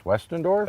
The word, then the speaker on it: Westendorf: from Ag Explorer, your last name is Westendorf? That's right, Is that the right way to say That's it? right, yep.